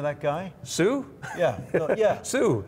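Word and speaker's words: Suh: Sue. That's S-U-H.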